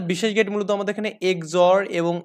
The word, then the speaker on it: XOR: মানে এটাকে বলা হয় এক্সঅর আপনার মতে এক্স অর, হ্যাঁ, কিন্তু আমাদের উচ্চারণ হবে এক্স অর, আর হচ্ছে এক্স নর উচ্চারণ হবে এখানে।